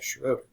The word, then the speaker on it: Schroeder: Okay, how do you pronounce, is it Schroeder? Okay, Schroeder.